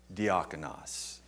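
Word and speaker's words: διάκονος: it for several months anybody remember how to pronounce that diaconas now diaconas later in scripture becomes the word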